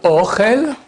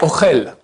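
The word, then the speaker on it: אוכל: Par exemple, il y a Ochel et Ochel. C'est les mêmes lettres, les mêmes prononciations. Mais j'ai mis une fois l'accent au début. Ochel, ça c'est la nourriture. Ochel, c'est il mange.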